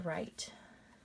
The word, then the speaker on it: write: use this word right here which means to write i have to write five sentences all right